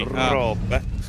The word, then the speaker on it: Roope: I commentated on Rupe in the Prodigy Racing League, and I think he Americanized the pronunciation enough for Brian Till and myself so that we felt comfortable saying it. So he is Rupe. He is Rupe to me.